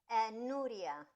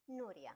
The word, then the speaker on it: Nuria: I feel like I'm not pronouncing your name correctly. Am I? Nura. Nura. Nura.